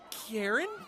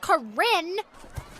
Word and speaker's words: Corinne: glucose that's pretty sciencey hi karen wanna buy some lemonade it's pronounced corinne that's what i said